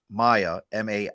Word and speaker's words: Maya: It is Maya. He says I pronounce it right.